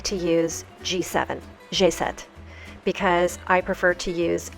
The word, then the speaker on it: G7: to call them and the way that you pronounce this in French is not G7 it's jet jet now you may be